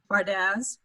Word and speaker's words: Bardaz: Bardaz. Bardaz. Okay, Bardaz. Just with a Z, know this. Yeah. Originally, what language is it, and how do you pronounce it? It's Hungarian and Bardaz.